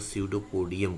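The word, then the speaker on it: pseudopodia: बनता है तो इसको सूडो पोडियम कहेंगे पी साइलेंट है बच्चों यहां पर पी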